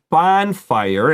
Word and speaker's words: bonfire: bonfire in Chinese go so bonfire is an like like a short o sound there's actually a letter missing it's a very old word it used to be called bone fire so when they wanted